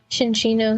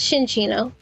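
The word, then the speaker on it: Cinccino: I've always heard it pronounced Shinchino. Okay, it helps if... because it's Minchino and Chinchino.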